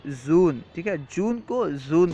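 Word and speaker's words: ژوئن: کے بعد ہے جون، جون کو فارسی تلفظ میں اس طرح کہیں گے زون، ٹھیک ہے، جون کو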